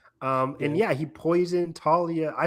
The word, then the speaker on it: Thalia: Um, and yeah, he poisoned Talia. I say Talia. I will always say Talia. Even though the show says Thalia, I don't like it. It's always Talia to me. The H is silent for me.